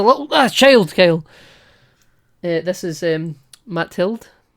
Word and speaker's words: Mathilde: So it's Mathilde, but it's spelled like Math-Ild. Right, okay. But it's Mathilde. I think it's just because it's French, you know?